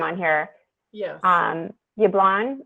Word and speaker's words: Jablon: on here yes um yublon is that how you pronounced here okay so i would check